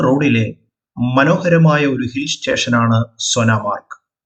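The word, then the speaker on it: Sonamarg: മനോഹരമായ ഒരു ഹിൽ സ്റ്റേഷനാണ് സോനാമാർക്ക് കാശ്മീരി ഭാഷയിൽ സോനാമരക് എന്നാണ് ഉച്ചാരണം സ്വർണ്ണത്തിൻറെ പുൽത്തകിടി എന്നാണ് സോനാമരകിന്റെ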